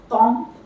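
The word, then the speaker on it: temps: Tomb, again, S will not be pronounced. Tomb, time.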